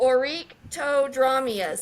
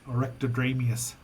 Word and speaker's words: Oryctodromeus: The next one, it's a little harder to pronounce, so bear with me here. Oh, I know which one It's this the Oryctodromeus. is. Orectodramius. Oryctodromeus.